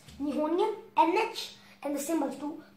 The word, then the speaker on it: Nihonium: a really hard one, pronounce, we ask what pronunciation over there up. Alright, so first we get to 113 Nihonium NH, which is Nihonium.